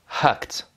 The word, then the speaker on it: hacked: Donc quand ça se terminera par un de ces sons, que, peu, feu, se, che, le ED se prononcera T. Par exemple, hacked ou helped.